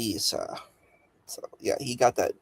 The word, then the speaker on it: Issa: He said Issa. That's how you pronounce my name, actually, because there's an ayin in my name. It's spelled ayin, yeah, sin, yeah. So that's Issa.